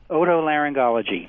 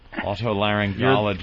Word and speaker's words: otolaryngology: How do you pronounce that very long word? Otolaryngology. That's what I thought. All right. Otolaryngology.